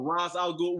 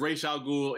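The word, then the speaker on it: Ra's al Ghul: it re alul or Ros alul whichever way you want to pronounce it because it's pronounced differently in the cartoon to the TV shows it don't matter God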